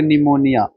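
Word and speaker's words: pneumonia: इसका संबंध पढ़ो कि निमोनिया निमोनिक से संबंधित है। निमोनिया से बना है। निमोनिया की स्पेलिंग क्या होती है? पी नी इसमें पी साइलेंट होता है।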